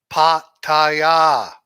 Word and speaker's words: Pattaya: you see that ah it's pretty easy to pronounce Pattaya right Pattaya it's not but Thai there's no I know